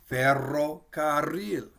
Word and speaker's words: ferrocarril: And it might look like ferrocarril. Tierra. So you can hear we kind of roll it. We're going to trill it. We'll pronounce the R a couple times.